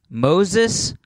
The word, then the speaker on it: Moises: It's spelled like Moises. Okay. Pronounced Moses. Yes, like the guy from the Bible. Don't ask me why it's pronounced Moses but spelled Moises.